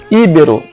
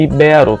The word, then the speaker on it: ibero: Íbero em vez de ibero, que a norma culta considera mais correto, ibero.